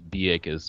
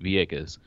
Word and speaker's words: Vieques: google purchase yeah but the Spanish pronunciation is be a kiss because B instead of V so locally they call it Vieques America probably gonna call